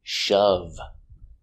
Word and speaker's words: shove: he shoved the girl shove short sound uhuh shove shove did he shove